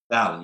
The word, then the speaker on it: Dali: So today I am sitting here with Eric, pronounced it like Dali? Dali, yes.